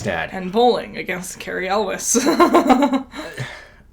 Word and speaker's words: Elwes: And bowling against Carrie Elwes. Els? Yeah, Els. Yeah. It's spelled weird.